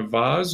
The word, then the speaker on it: vase: need these in a vaz or a box because of a vaz or vase depending on how you say it um costs a little